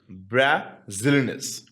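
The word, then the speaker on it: braziliense: is caused by anosa brazilin brazilis that's how you pronounce it so we talked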